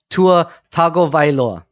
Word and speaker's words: Tua Tagovailoa: I'll look it up too later, but it's Tua Tagovailoa is the correct pronunciation.